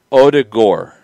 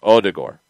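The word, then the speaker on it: Ødegaard: struggling to get it the end is gore like like al gore the d is like d like dip and then the o is kind of like the german oh with like a like like odigor and the the accent is on the o yeah and i'm not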